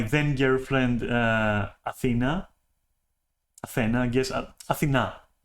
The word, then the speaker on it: Athena: Athena is the pronunciation, okay? Athena, from the goddess, you know, obviously.